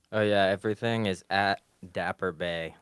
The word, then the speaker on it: Dapp3r: you know online oh yeah everything is at dapper Bay like BAE like girlfriend or also but